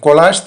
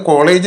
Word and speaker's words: collage: അതിന്റെ ഉച്ചാരണം കൊളാഷ് എന്നാണ്. പല തുണ്ടുകൾ ഒട്ടിച്ചുണ്ടാക്കിയ ഒരു വലിയ ചിത്രത്തെയാണ് കൊളാഷ് എന്ന് പറയുന്നത്. ചില കുട്ടികളൊക്കെ ഇത് കോളേജ് എന്ന് ഇംഗ്ലീഷിൽ എഴുതി കഴിഞ്ഞാൽ കോളേജ് എന്ന് വായിക്കും. കോളേജിന്റെ സ്പെല്ലിംഗ് ഇതല്ല. COLLEGE എന്നാണ് കോളേജ്. കോളേജ് ഉന്നത വിദ്യാഭ്യാസ സ്ഥാപനമാണ്. ഇവിടെ കൊളാഷ് ആണ്. ഇവിടെ SH ഇല്ലെങ്കിലും നമ്മൾ AGE എന്നുള്ളത് SHന്റെ ഒരു ഉച്ചാരണം കൊടുത്ത് കൊളാഷ് എന്നാണ് വായിക്കേണ്ടത്.